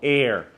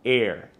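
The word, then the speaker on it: Aer: That company is called Air, but spelled with the E. A-E-R, Air, Air.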